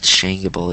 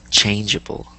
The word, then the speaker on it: changeable: changeable no no okay it's not shable it's changeable changeable sh dang it now